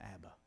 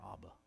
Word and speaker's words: Abba: they would be saying Abba or ABA is the better pronunciation Abba can you imagine